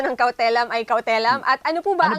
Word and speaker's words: cautelam: Una po sa lahat, tama ba ang pronunciation ng cautelam ay cautelam?